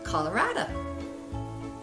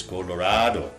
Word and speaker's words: Colorado: It's Carrie and Ted from Colorado. Colorado? Oof to my. Oh, Carrie, Aunt Marilyn's never going to understand where we're from if you say it like that. It's Colorado. Colorado.